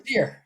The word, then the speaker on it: Steir: Steer. Is that right? Steer.